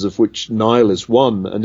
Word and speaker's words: Niall: is Mickey Mouse or it's um Nile not Neil as many people get incorrect that well it's